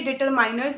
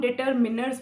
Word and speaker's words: determiners: इसको कई लोग डिटरमाइनर्स बोलते हैं। ये डिटरमाइनर्स नहीं होता है, इसको हम डिटरमिनर्स बोलते हैं।